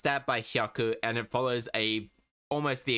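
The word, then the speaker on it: 百: You pronounce that by hyaku, and it follows almost the exact same system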